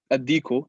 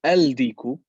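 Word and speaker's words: الديك: When we say ad-diku and al-ma'u, I'm not saying al-diku, I'm saying ad-diku.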